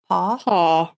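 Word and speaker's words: Paugh: Paw. P-A-U-G-H. So we'll go with Paw.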